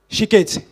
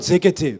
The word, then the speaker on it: Shikete: You'll pronounce it? Shikete. Because when I saw it, I thought Zekete, but it's the way it's spelled here.